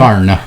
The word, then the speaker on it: Husqvarna: You have to say it correctly, though, I think. Well, what was incorrect? Husqvarna. Oh, right. So I mean, it is Swedish.